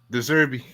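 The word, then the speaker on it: Desabre: a coach, and yeah, his name is almost like the Brighton coach. Yeah, the last name bro. is Deserbi. Yeah, obviously, I don't think it's spelled the same way, but the pronunciation is the same.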